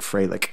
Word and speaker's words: Freilich: And then the special teams player or scout of the week was Jake Freilich, is how he pronounced it, which is Fröhlich, right, in German.